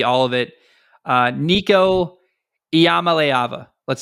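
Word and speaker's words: Iamaleava: he's Hawaiian Polynesian minimum the i in the Hawaiian language is pronounced e um so eama leava uh by my math is how you say that if I'm wrong correct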